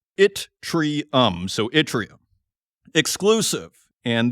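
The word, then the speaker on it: yttrium: is with itrium and it is spelled y tt r iu m. I went to chat gpt to find out how this rare earth is pronounced and it is pronounced itrium.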